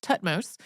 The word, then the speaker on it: Thutmose: Hatshepsut's death, her successor, Thutmose III, whose name we have also heard pronounced just Thutmose, had her name removed